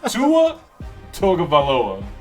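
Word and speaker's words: Tagovailoa: just call two of no Tua t no Tua toga Vala I said it right that time 293 passing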